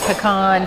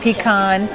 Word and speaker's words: pecan: the judge of that pecan pecan put in the comments whether it's pecan or pecan or pecans if you can I say pecan and I'm a born and bred Texas girl I don't know how